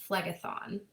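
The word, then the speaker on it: Phlegethon: before so a lot easier to try to pronounce and this one is being referred nowadays as the river uh Flegaththon and um this travels directly directly to the depths of the underworld.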